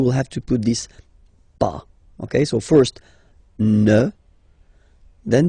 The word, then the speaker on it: pas: have to put this pas. Okay, so first ne, then the verb, and after that, pas. Okay, we write it PAS, okay, but as usual, final S is not pronounced, so it's pas.